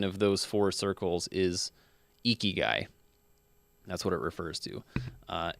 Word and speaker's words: Ikigai: I love that I looked up how to pronounce this. But Ikigai, Ikigai.